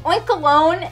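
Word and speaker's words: Oinkologne: it's shiny is pink oink alone and I think that's how you pronounce its name because it's like cologne it's a really weird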